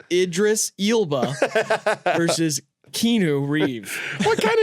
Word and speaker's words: Idris Elba: one no you can't Idris Alba versus Keanu Reeves not how it's pronounced I I just did it it's Idris ilba versus kenu Reeves what